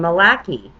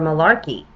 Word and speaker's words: Malachi: all the future popes one might pronounce his name Malaki or Malarkey anyhow he's come everything